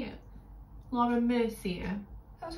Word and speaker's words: Laura Mercier: Laura Mercier.